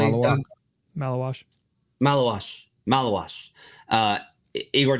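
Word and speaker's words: Maluach: impression or Jeremiah Fears uh Malish am I pronouncing that correctly? Malawash Malawash.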